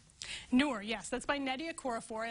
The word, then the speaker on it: Noor: I'm not totally sure how to pronounce the next one, but I think it's Noor. Noor, yes, that's by Nadia Korafor, and that may be a familiar name to folks.